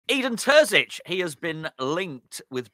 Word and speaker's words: Terzić: I want you to pronounce the name, ideally. Yeah, Terzić should be fine.